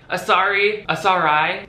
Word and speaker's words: Asarai: The brand is called Asarai. I'll spell it out for you on screen in case you're not getting it. A-S-A-R-A-I. Don't say it wrong, just read that and be right.